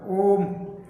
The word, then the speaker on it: ओम: करके फिर मैं होता ओम, यानी ओ का उच्चारण त्रिमात्रा में, प्लुत मात्रा में होता है।